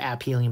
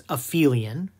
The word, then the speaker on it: aphelion: that is called the aphelion not aphelion you'll see people pronounce it appealing but that's incorrect it's aphelion and that means it